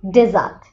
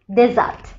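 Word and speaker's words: desert: যখন IPA symbol তুমি বুঝবে তখনই বুঝবে এটার উচ্চারণে অনেক পার্থক্য আছে। একটা হলো ডেজার্ট, এটা অর্থ মরুভূমি ডেজার্ট, আর এখানে যখন আসবে ডিজার্ট ডিজার্ট, এটা দেয়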